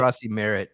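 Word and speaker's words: Croskey-Merritt: Yeah, how do you say his name? I don't want to fuck it up. Corey Krosky Merritt, I think is how you say it.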